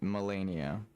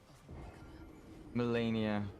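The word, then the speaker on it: Malenia: you even Parry that melenia she pronounces the E like an a I mean it's her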